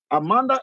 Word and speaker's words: Amandla: Now, Amanda is spelled as Amandla.